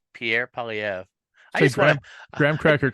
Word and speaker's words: Poilievre: Poilievre? Yeah, Pierre Poilievre. Pierre Poilievre.